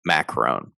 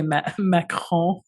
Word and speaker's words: Macron: muslim women hater emmanuel macron i love the way you say matt meckle it's macron colin macron he deserves